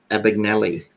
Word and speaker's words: Abagnale: based on Frank Abagnale how do you say his last name in the movie they said it a big Nellie epic malli Frank Abagnale